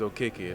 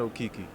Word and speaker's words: Okeke: A lot of people from Africa, and they just be telling me like, no, this is how you say your name. Your name is Okeke, not Okiki.